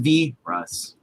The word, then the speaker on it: Vi Ross: It's pronounced V Ross.